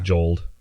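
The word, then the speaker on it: joeled: e l e d so like the name Joel just jel it's onor rare occasion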